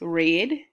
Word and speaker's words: read: it does not change you just change the way you pronounce it depending on present or past tense okay it is red if you read those